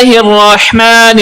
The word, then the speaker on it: الرحمن: کے پڑھیے۔ بسم اللہ الرحمن الرحیم۔ بسم اللہ الرحمن الرحیم۔ الرحمن اور الرحیم، یہاں پر ہا استعمال ہو رہا ہے جو کہ حلق کے درمیان والے حصے سے ادا ہوتا ہے۔ ہا اور دو چشمی